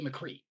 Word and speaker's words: McCree: Cassidy on right no you're going to say McCree it's two syllables and we already know